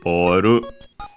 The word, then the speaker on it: ボール: Okay, good thing we did, because instead of having the expected accent based on the English one, and so on the bo, it's unaccented. So, boru, ball.